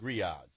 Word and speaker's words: grillades: And we had steak grillades.